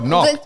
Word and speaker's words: knock: Oh, knock. So knock. So the K is silent in knock.